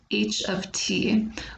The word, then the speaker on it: h(t): you might be confused about is how I pronounce the beginning of the equation it looks like it says H times T but actually it does does not mean each